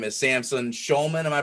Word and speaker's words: Samson Shulman: His name is Samson Shulman. Am I pronouncing that correctly?